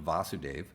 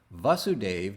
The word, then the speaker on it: Vasudeva: krishna son of vasudeva notice vasudeva doesn't have a long a vasudeva is a patronymic